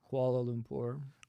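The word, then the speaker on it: Kuala Lumpur: How's it What how do you pronounce it? KL. Koala Lumpur.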